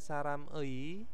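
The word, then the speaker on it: 사람의: Terus sibon di sini ada saram ei. Jadi tulisannya kan saram ei, tapi bacanya itu sarame ya.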